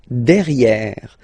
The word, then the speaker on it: derrière: So if you look carefully, you've got E here and then double R, so it will open the sound of this E, and you should pronounce it E, okay? De, derrière. Same thing here, you've got this E accent grave, E, derrière, okay? Don't pronounce the final E.